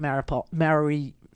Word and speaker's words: Mariupol: you could do Mariupol, I call it Mariupol, they keep saying it wrong, and every time they say it wrong, I correct them on the TV, but whatever, you could put in Mariupol, you could put in